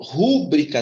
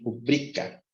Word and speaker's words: rubrica: E rúbrica não é rúbrica, isso aqui está errado. A sílaba mais forte é rubrica.